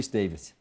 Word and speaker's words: Davies: but uh and Davis thank you spell Davies but pronounce Davis right just so the people